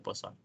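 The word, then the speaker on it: Poisson: uno aquí esposo by le digo poison pero si lo correcto esposo no sé muy bien porque no sé de dónde sea él no sé de qué país a esta persona pero según se pronuncia posa ahora recordemos la distribución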